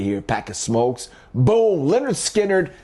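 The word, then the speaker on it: Lynyrd Skynyrd: Leonard Skinnard. Debuted album. Pronounced Leonard Skard.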